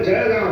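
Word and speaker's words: जळगाव: तो अब तक हम जलगांव कहते थे, पर मूलतः उसका प्रयोग जो है वह जलगांव है। अब ळ के उच्चारण के अभाव के कारण या प्रचलन के अभाव के कारण उस जलगांव को जलगांव लिखा जाता है।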